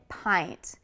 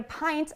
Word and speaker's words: pint: I would like to get a pint of ice cream at the supermarket today. These are spelled very similarly, mint, pint, but the vowel sounds are very different.